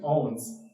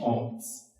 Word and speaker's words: Ounce: But the way it gets a pronunciation, Owens, it's a Frenchman's mispronunciation of an Ojibwe word. So it's how the French pronounced "eents" became Owens.